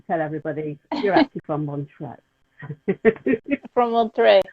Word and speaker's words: Montreux: I will start to tell everybody you're actually from Montreux.